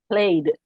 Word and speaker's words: played: So the words ending in ED are pronounced D. Played, played, played, played.